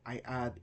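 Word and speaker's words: ει: I take alpha, I add iota, and it becomes the first diphthong here, I. Epsilon, I add iota to it, A. I as in isle, A as in gray.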